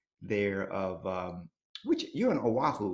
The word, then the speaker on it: Oahu: So I couldn't imagine a better place to be stuck than maybe Oahu, Oahu.